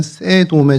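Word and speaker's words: סדום: 그래서 이 소돔이 원래 발음을 히브리 말로 그대로 읽으면 세돔에 좀 가깝습니다.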